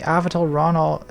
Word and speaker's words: Avital Ronell: hi Natalie interested in your take on the avital Ronell is how you pronounce her name and she's very famous oh